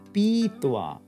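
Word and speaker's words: pītvā: get mittwa having measured ba to drink uh weakens to a long e actually and we'll end up with beethoa having drunk on the other hand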